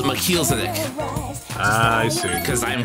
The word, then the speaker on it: Melchizedek: Yeah, it's Melchizedek.